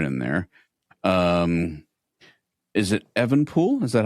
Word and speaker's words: Evenepoel: Um Is it Evenepoel? Is that how you pronounce that? Evenepoel, yep.